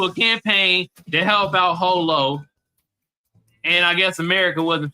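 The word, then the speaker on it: Jho Low: Prosecutors accused Pras of orchestrating a back-channel foreign lobbying campaign that benefits Holo. The J is silent, y'all. That's how you say his name, Holo.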